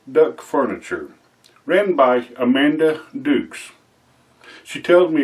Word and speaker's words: Dux: Today's shout out is going to be on Rustic Duck Furniture written by Amanda Dukes. She tells me it's spelled D U X but it's pronounced Dukes, not Ducks.